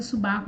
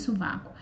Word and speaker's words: sovaco: O que acontece quando alguém pronuncia subaco em vez de sovaco?